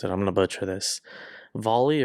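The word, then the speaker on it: VALL-E: Volley or Valley. It's like Dolly with the D, but with a V instead.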